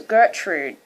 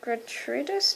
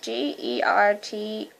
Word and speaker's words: Gertrudis: Why did I always say her name was Gertrude? It's Gertrudis, Gertrudis.